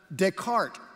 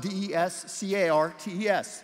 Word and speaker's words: Descartes: to 1600 you have Descartes and that's spelled d-e-s-c-a-r-t-e-s but it's pronounced Des cart Descartes he was a